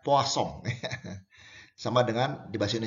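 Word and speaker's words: Poisson: namanya distribusi Poso ya ini orang Perancis ya Kang Perancis ditulisnya Poison dibacanya posong Hehehe sama dengan bebas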